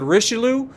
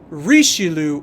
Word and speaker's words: Richelieu: actually think about it rather than just saying the Richelieu which is the way I say it um it's the rishilu or as close as I